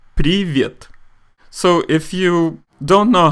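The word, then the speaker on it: привет: rule later on alright so how do you pronounce this word that's right privyet so if you don't know how to spell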